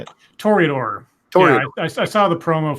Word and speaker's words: Toreador: Yeah, to announce the Trudor? Is that how you say it? Toreador.